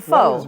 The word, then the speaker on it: faux: faux that's food thing which is it is it faux or F it's fo got that one right and I have um